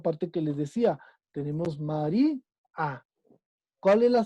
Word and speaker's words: María: que también ahí hay una ruptura de diptongo, esta parte que les decía, tenemos María. ¿Cuál es la sílaba tónica?